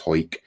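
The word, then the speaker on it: Hawick: Um, you've got New Castleton and a place called Ho. Um, spelled Hick, but uh it's pronounced Ho.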